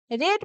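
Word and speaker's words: read: आ चुका रीड पढ़ना रेड पढ़ा रीड के सेकंड और थर्ड फॉर्म दोनों को ही रेड प्रोनाउंस करते हैं। यानी रीड पढ़ना रेड पढ़ा रेड पढ़ चुका।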